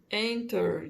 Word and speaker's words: enter: Mas na hora de falar, na maioria das vezes, você não vai pronunciar este T. Então, ao invés de ser enter, você vai ouvir enter.